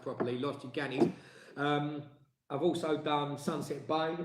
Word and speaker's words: Los Gigantes: other end, just near Los Gigantes, as it's pronounced properly, Los Gigantes.